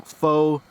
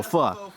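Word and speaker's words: phở: And then I've got some faux broth concentrate, which I have never tried before. Dude, that's a fuck. Oh, pho. Wait, it's faux? It's pho. There's no accent on the O.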